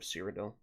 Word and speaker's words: Cyrodiil: Kings, which is the holy middle ground of Cyrodiil. Like okay, that. gotcha. There's no, like, actual Cyrodiil hasn't been formed yet. wiki Yeah. of Seed of Sundergated. The heart of Cyrodiil. Cyrodiil, however, Cyrodiil. It's Cyrodiil.